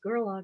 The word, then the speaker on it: Gerlach: find you it's uh then it's gerlock it's g-e-r-l-a c-h and there's i believe there's